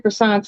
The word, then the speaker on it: croissant: Pillsbury croissants is something, just a quick late night, quick dinner type thing, but these croissant, I'm gonna just say it like the French do, croissant.